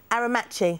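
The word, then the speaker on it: Aermacchi: Aramachi, it is. Aramachi. Aramachi. Thanks for the pronunciation there.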